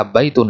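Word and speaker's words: بيتٌ: Nah, contohnya misalkan tadi kita katakan baitun. Nulisnya begini. Nah, nulisnya begini, tapi pengucapannya seolah-olah seperti ini. Baitun, ya kan?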